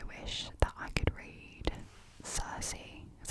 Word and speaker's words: Circe: So I wish that I could read Circe, is how you say it, and The Song of Achilles.